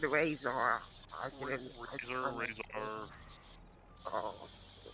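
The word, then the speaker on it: Razar: I am Razor. It is good to meet you. Oh, hi, Razor. What? I think I said it wrong. No, you didn't. Oh, but, oh. You said Razor. I didn't. Razor.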